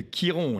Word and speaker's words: Chiron: prochaine je n'ai pas parlé de Kiron la planète de la blessure ça s'écrit Chiron et la symbolique de